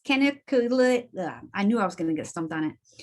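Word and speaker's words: canaliculatus: And in case anybody wanted to know how to pronounce it, it's caniculatus.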